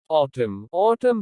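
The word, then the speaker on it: autumn: ऑटम पतझड़। Un is silent at the end of some words.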